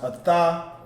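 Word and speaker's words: אתה: It's pronounced Atah, and that means you. All right, Atah. So the characters that are used for that is the Ah, the Tha, and the Ha. So you drop the A off the Ha right here, and then those two you pronounce the Ah by itself. The Tha and the Ha become one word, which is just Tha.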